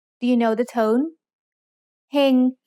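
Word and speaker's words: เฮง: เ ฮ ง has a low-class consonant with a live syllable ending, so it's mid-tone.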